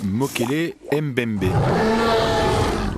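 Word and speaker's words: Mokele-mbembe: mystérieux en tout cas encore inconnu c'est le moquel Mbembé est-ce que je prononce bien oui vous prononcez très bien en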